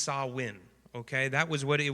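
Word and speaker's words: Samhain: called Sam ha uh which is a Gaelic word but it's pronounced sawin okay that was what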